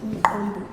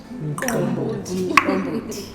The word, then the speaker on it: umqombothi: Will you please pronounce it Umqombothi? Umqombothi.